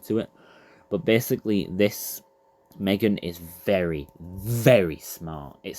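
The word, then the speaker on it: M3GAN: But anyway, coming in at number 5 is Megan. But obviously, it's spelt with a 3, so that's why I've typed it like that. Megan. That's how they say it in the film. Not Megan, Megan. Like that.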